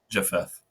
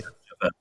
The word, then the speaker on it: Japheth: And I'm not even sure how to pronounce the other name. So Japuth, maybe? Japheth. Okay. Japheth.